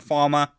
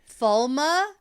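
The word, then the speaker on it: Falme: Falma is the book. Is the way that we pronounce it when we read the books. That's because that's the way it's supposed to be phonetically said. The Falm. Falm is what the TV show pronunciation says. Pronunciation is how we do it in the show.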